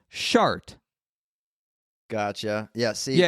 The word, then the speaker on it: Chartres: No, and so the name of the town that this cathedral is in, it's spelled Chartres. This is one of the most famous cathedrals in the world. And the pronunciation of the town is Chartres.